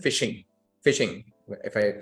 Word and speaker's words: phishing: common practices that you've heard is something called fishing fishing if I spell it for you it's p h i s